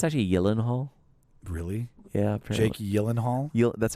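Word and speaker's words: Gyllenhaal: that's acting um do you know it's actually yenal really yeah Jake yenal that's how you actually say we've been pronouncing it this way our entire the Americans pronounce a gyllen hall but it's Swedish and it's actually Yen Hall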